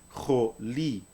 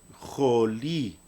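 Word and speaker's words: חולי: Esta palabra se pronuncia jolí, jolí.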